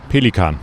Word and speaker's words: Pelikan: How do you say that in the German? Pelikan. Pelican.